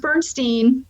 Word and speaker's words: Bernstein: original music I saw was by Elmer Bernstein Bernstein and I was like huh wait is this is this guy related to Leonard Bernstein no this is pronounced Bernstein they're not related they they they were friends